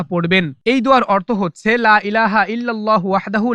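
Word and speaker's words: لا إله إلا الله: বলেছেন লা ইলাহা ইল্লাল্লাহু অনেকেই লা ইলাহা ইল্লাল্লাহু বলে ভুল উচ্চারণ সঠিক উচ্চারণ হচ্ছে লা ইলাহা ইল্লাল্লাহু ইল্লাল্লাহু লা ইলাহা ইল্লাল্লাহু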